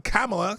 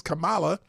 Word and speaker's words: Kamala: she gets mad because people pronounce her name wrong Kamala versus Camala and she's up here